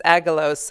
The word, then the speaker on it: Angelos: And they said no, because it's very difficult for not native Greek speakers to pronounce Angelos, the double G. Angelos.